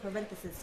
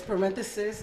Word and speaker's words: Parenthesis: It's parenthesis E. So instead of the E, it's the Y, S-I-S, instead of E-S-I-S.